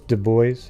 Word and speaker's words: Dubois: test so you're already so it's dubois okay dubois all right like like uh idaho how's that one like boise almost spelled the same yeah so you're definitely